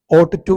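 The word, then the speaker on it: ought to: വാക്കാണ് എന്ത് ഓട്ട് ടു ഇത് ഉച്ചരിക്കേണ്ടത് ഓട്ട് ടു എന്നാണ് അവിടെ യു ജി എച്ച് ഉച്ചാരണം ഇല്ല അപ്പൊ ഓട്ടി മാത്രം ഓട്ട് ടു okay you ഓട്ട് ടു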